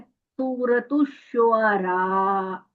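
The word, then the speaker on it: سورة الشعراء: पहले तो आपने प्रोनाउंस करना है इस लफ्ज को, क्योंकि ये लफ्ज थोड़ा मुश्किल है और अक्सर लोग इसको सही नहीं बोलते। आपने बोलना है सूरत शुआरा। ठीक है, ऐसे।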